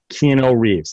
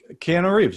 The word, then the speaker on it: Keanu Reeves: thing done there's a great documentary done by keno reeves how do i say his name keanu reeves that's right you know reebs just say john